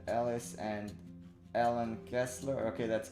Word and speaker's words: Ellen: kessler but spelled with e-l-l-e-n not with h-e-l so it's not helen it's ellen and alice is with